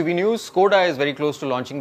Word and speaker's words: Škoda: scored has not done yet I said Skoda Skoda that's the right pronunciation recently they also introduced the character name